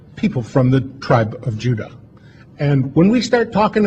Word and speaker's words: Judah: called Benjamin and Judah more properly pronounced at Judah because we didn't get the harder sound to the Jay until about two hundred years ago so this is what